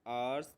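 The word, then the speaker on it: hour: तो यहाँ पर देखो आवर्स है, लेकिन इस ये एच से दिखा रहा है, लेकिन इसके प्रोनाउंसिएशन जो होती है वो ऐसे होती है, ठीक है।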